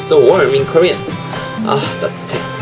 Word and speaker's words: 따뜻해: 아 따뜻해 아 따뜻해 아 따뜻해 아 따뜻해.